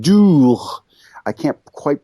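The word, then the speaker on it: doogh: It's called dough. I can't quite pronounce it. It's that guttural sound at the end, but dough.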